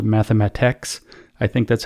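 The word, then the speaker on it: mathematx: It's spelled mathematic all the way to the C, to the T. It's very hard to say this, and then just ends with an X. It's not ends with TIX. It ends in TX. Like the word just stops.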